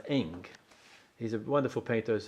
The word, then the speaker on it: Ingres: by his name is Eng, Ingres. It's pronounced Eng.